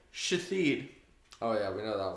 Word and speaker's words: Shithead: Said pronounced Ashole, but that's how it's spelled. There's another one That ain't named right. Shathid.